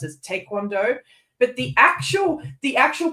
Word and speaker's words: taekwondo: Instead of being properly pronounced as taekwondo, it's mispronounced as taekwondo. But the actual pronunciation is somewhere between those two. Like the Korean pronunciation is somewhere between those two anyway.